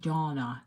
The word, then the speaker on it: Dana: it differently I mean my parents always called me Dana so I'm pretty say it it sounds like Donna Donna yes hi Leslie